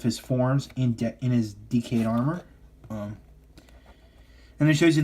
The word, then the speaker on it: Decade: like that so yeah I'm gonna go up with the Japanese pronunciation of the word decade yeah it does look at sprouts a decade but my friends is decayed because that's how they